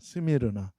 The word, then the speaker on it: 스미르나: 원래 이 헬라어 발음은 이 서머나가 아니라 이 스미르나입니다. 스미르나 이름으로 원래 불립니다.